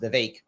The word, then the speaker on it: Vivek: Vivek I thought it was pronounced Vivek it's pronounced the vague um that that the vague ramaswamy would do well in the uh debates